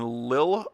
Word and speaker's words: Lille: In Lille, I think that's how it's pronounced, Lille, France.